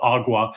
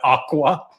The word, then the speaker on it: agua: Spanish speakers call it agua, but he mispronounced agua and said aqua, which was funny on many levels.